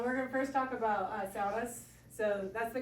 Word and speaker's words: sauna: My heritage is Finnish. That's where saunas come from. So I can't bring myself to say it the way you say it in America. How do you say it? Not Massachusetts. Sauna. Sauna.